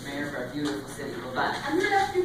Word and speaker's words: Libet: Oh, it's pronounced Libet.